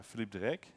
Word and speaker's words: Philippe De Ryck: small word about me my name is flip deck I have name which is unpronounceable in French or English so don't worry about that my first name is pretty French so that's good you can call me Philippe and you're good I come from Belgium and